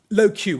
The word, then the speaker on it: LoQ: We then own, and this is in no particular order, low Q. We had to spell it out. It used to be LOQ, for those of you that remember.